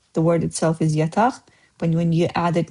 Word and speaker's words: yataq: Like I said, the word itself is yataq, but when you add it next to another